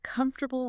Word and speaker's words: comfortable: Or maybe genre with that unexpected ZH sound or comfortable with its vanishing syllable?